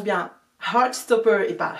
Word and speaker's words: Heartstopper: Heartstopper et pas Heartstopper, non c'est le petit cœur, Heart.